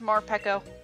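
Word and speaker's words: Morpeko: even metapod is very up for you it's pronounced more peco marpaco oh yeah wait more pekko don't tell me you actually like ashley ugh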